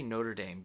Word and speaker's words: Notre Dame: south bend indiana second i'm going to pronounce it like an american and just say notre dame because any attempts at